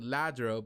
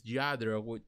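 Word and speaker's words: Lladró: We're going to talk about Lladro Collectibles, also known in the English pronunciation, we might call it Lladro, but it's Lladro.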